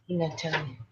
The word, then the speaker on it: Pignatelli: Pignatelli. Okay, well, thank you for the English or Italian. I should know better. I should know better, but I don't. So the G is silent then?